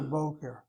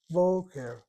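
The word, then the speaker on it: בֹּקֶר: This is an o-e, boqer.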